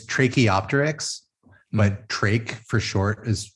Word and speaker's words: Tracheopteryx: It's Tracheopteryx, but Trach for short is fine. It's as must be obvious, it's a combination of a trachea and the Archaeopteryx.